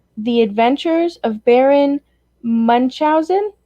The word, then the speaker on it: Munchausen: the adventures of baron munchausen munkhausen in the movie they pronounce it a couple of ways baron munchausen or at one point there's also it's also pronounced baron manhuken so um so this